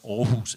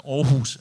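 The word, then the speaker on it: Aarhus: convention and I'm want I'm one of the few people who can pronounce it because orus is a Danish town and I'm from Denmark but the orus convention is a beautiful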